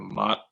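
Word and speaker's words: Maat: The feather is actually, I believe it's pronounced the feather of Mott.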